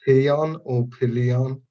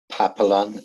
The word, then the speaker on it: Papillon: __ ] uneducated yeah i think it's called peon or pillion it's called papillon yeah that's the one that's